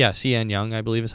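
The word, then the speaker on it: Sean Young: Cian Young, Cian Young, I believe is how you say her name.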